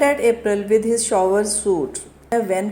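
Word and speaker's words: whan: it side by side win modern English let's start one ट April with his shower suit वेन को डब्लू एच ए एन के साथ लिखा गया है बट हम इसे वेन ही पढ़ेंगे और शॉवर्स के स्पेलिंग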